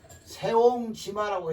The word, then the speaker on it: 새옹지마: 거 아니겠어요 그 새 새옹지마라고 했을 때는 여기는 새로 발음합니다 예 왜 글자가 성체